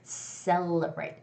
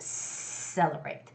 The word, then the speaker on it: celebrate: brave say low braid but it's got to be a stronger s sound so it's got to be celebrate celebrate celebrate okay and scented it